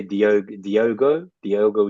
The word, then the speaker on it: Diogo: Well, instead of Jota, which is what the whole community seems to say, I would say Diogo Jota, No, but like, Jota, how have you been saying Jota.